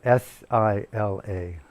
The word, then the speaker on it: Sila: How do you spell that? Sila? Sila, S-I-L-A, Sila.